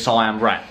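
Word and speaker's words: Siem Reap: heard of cm reap it was told to me as cyan wreck so my brain is just like oh okay that's how you say it and it is weird not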